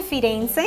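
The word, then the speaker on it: Firenze: morados vamos a ver Florencia que en italiano se dice firence esta trae colores como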